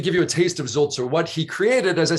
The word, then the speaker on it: Sulzer: Zulzer is spelled S-U-L-Z-E-R.